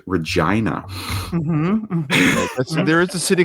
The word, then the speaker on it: Regina: Fun fact, in Canada, there is a major-ish city with the same name, but it is pronounced Regina.